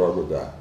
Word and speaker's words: agudá: As French colonization imposed the French language on the region, they ended up using French pronunciation (with an emphasis on the last syllable), so the pronunciation become agudá.